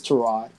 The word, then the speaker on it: Tyrod: Let me say Tyrod. That's how you really pronounce his name because it's been a lot in the media. It's Tyrod.